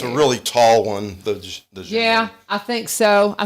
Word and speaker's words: djembe: I don't know what it is, but they're djembe huge. or djembe. They're huge. They're huge. And maybe that's what it is. That sounds familiar. It's a really tall one, the djembe.